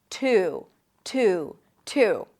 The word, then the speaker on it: Tuesday: Now you can also drop the Y sound and then just connect the T to the U. Two, two, two. Just like the number two.